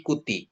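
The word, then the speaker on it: κουτί: beda ya e terus to kuti ya bukan kouti tapi kuti jadi o ketemu omikron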